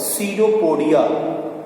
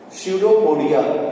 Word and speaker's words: pseudopodia: So that false feet is called the pseudopodia. P is silent. Pseudopodia.